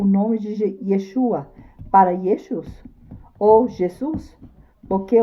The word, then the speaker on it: Yeshua: Yosua em hebraico antigo, após oío exírio de Babilônia passou a ser pronunciado Yeshua.